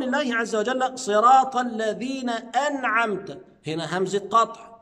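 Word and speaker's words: أنعمت: التوسط انع انعمت واوعى واحذر تماما انك تنطق التاء بالضم انعمت اه انت كده قلبت المعنى قلب تام لان انا بطلب الهدايه من الله عز وجل وانعمت التاء هنا تاء المخاطب فانا اخاطب الله عز وجل تخيل لو انت قلبت المعنى ققول انعمت صرت انت اصبحت انت المنعم وهذا خطا لا شك يبقى صراط الذين انعمت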